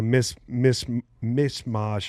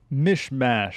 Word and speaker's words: mishmash: But it's like a mis mis mismash. I don't know how you say that. How do you say that? Mishmash. mish mash mash of you know